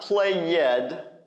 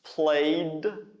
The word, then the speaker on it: played: right plate plate plate it not play yet like some people say I've heard before play yet it's not it's not two syllables it's one it's played all right play with a disowned at the end play you played soccer